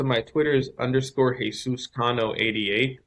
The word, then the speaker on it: Cano: Yeah, so my Twitter is underscore Jesus Cano 88. My name's not pronounced like Robinson Cano. It's Cano. There's no accent over though.